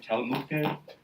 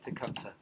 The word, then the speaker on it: Tecumseh: Telmuke? Did I pronounce his name right? Tecumseh.